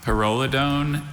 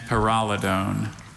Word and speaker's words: pyrrolidone: May I have, are there any alternate pronunciations? We've got pyrrolidone and pyrrolidone.